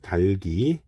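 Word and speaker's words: 닭이: 그래서 달글, 달기 이렇게 발음을 해야 합니다.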